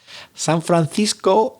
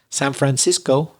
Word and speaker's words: San Francisco: in English Los Angeles San Francisco if you're Spanish but San Francisco if you're an English speaker and then Q Cuba